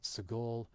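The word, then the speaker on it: segol: If it's three dots underneath in that sort of triangular, upside down triangle shape, that's sagol, and that's a short E sound like in bet.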